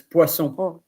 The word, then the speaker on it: poisson: Or how do you pronounce fish in French? Um, Fish in French is poisson.